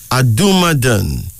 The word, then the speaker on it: Adumadan: a journey here is uh another one adumadon a d u m a d-a-n adumadan a Yoruba of Nigeria female a Ricky